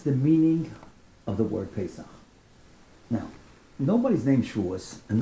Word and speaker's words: Paysach: Because they couldn't say Paysach, they can't pronounce the CH, right?